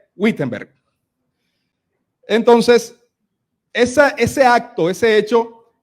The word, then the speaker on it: Wittenberg: puerta del castillo de Wittenberg. Bueno, creo que así se pronuncia, pero se lee Wittenberg.